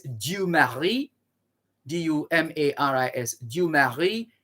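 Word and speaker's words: Dumarsais: 1951 when ex-president of haiti museum esteem that's d-u-m-a-r-i-s du mari d-u-m-a-r-i-s you marry esteem e-s-t-i-m-e mussio so this is january 24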